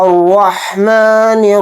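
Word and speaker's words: الرحمن: हमदुलिल्ला ि आलमीन अ रहमान रहीम र के ऊपर जबर है र को यहां पर मोटा पढ़ेंगे और र के साथ हा को मिलाएंगे और हा को हलक से निकालकर अच्छे से पढ़ेंगे फिर नून को र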